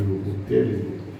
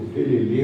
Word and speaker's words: ukulele: E vamos ter a orquestra de ukulele. Qual é? O certo, o ukulele, o ukulele. O ukulele, ou nos Estados Unidos fala assim de ukulele. Todas as três pronúncias são corretas.